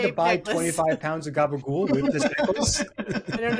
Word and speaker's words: gabagool: Yes, it's spelled like if you spelled it, it's capicola. But if you say it, it's gooble gobble. It's gabagool. Which honestly, and it's not even really how Italian people say it.